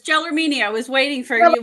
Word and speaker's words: Gelormini: Yes, it's Gelormini.